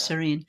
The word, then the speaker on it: Sarene: Well, thank you so much, Serene. You're welcome. I am pronouncing it right. Serene, of You course. are. You are. Yes. Pronounced like the word, not the word.